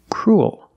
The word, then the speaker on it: cruel: Your mouth opens and you make an extra little sound. Cruel. Like pool and cool.